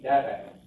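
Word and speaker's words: דרך: Derek. That's on the first syllable.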